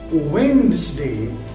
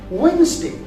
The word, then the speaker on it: Wednesday: So the word is spelled as Wednesday, where the D is silent. So we don't say Wednesday, but we say Wednesday.